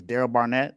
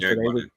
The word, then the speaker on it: Derek Barnett: I think it's Daryl Barnett. I could be saying his name wrong, Derek. but Derek His name is Barnett. Derek Barnett.